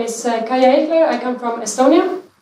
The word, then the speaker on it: Kaia: I guess also about this may be the pronunciation is not that good yes I said my name is kaya here I come from Estonia I will have